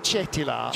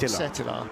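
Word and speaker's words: Cetilar: See, if we were Italian, we'd remember to pronounce it Cetila, not Setila.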